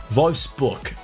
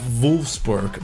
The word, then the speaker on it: Wolfsburg: Wolfsburg. That's how you say it in German, but you will catch me saying Wolfsburg because obviously I'm speaking English right now.